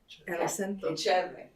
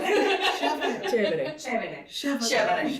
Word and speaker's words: Chévere: Chevre. I'm a native Spanish speaker. It's Oh, help us out. Chévere. Okay. Chévere. A little more chew.